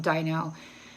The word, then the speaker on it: Dino: This is about a guy, Dino or Dino. It's spelled like the dinosaur from Flintstones, so I'm calling him Dino.